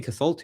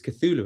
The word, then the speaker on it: Cthulhu: I was saying Cthulhu. It's Cthulhu, isn't it? Why I was saying it wrong there.